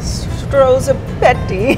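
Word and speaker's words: strozzapreti: the pasta itself called stoa prti we call it Chef's pasta to make it easier for people to pronounce people wait what is the real way stoa fretti stro petti yeah yeah yeah yeah pretty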